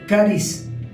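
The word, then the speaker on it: χάρις: Nuevo Testamento y se pronuncia caris así como suena con k acento en la caris aunque se escribe haris con j al principio y significa esto favor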